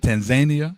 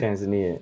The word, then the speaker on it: Tanzania: Tanzania, that's how you pronounce it. Tanzania.